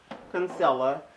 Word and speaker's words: Kinsella: I always get her last name wrong. Kinsella.